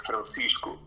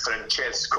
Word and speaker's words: Francisco: canadians to pronounce right because my birth name is francisco but all the canadians would pronounce it as francesco or frantisco or just came up with a random butchery of my name and no matter how hard i tried they would never pronounce the name right so i just started